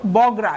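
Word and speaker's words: Bogra: এ অঞ্চলের নাম হয়েছিল বগড়া ইংলিশে এই যে বগড়া বি ও জি আর এ ইংরেজি উচ্চারণ বগড়া হলেও বাংলায় কালের বিবর্তনে নামটা পরিবর্তিত হয়ে বগুড়া শব্দের পরিচিতি পেয়েছে 2 এপ্রিল 2018 প্রধানমন্ত্রীর কার্যালয়ে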